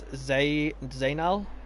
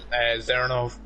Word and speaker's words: Zernov: I believe it's Zainal? Zernov. Zernov, right. I'm not the best with names, but as Tomo takes it's that...